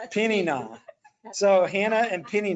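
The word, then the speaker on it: Peninnah: other one's name was pinana pina how do you say jenna it's like penny and then not penny not penny not thank you she's my my uh hebrew scholar here penny nah so hannah and penny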